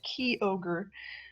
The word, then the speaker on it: Kyogre: saying that it's actually pronounced key ogre. Because that's how that. I guess they're apparently supposed to say it. No, I would absolutely. I'd take Kyogre even less than Kyogre.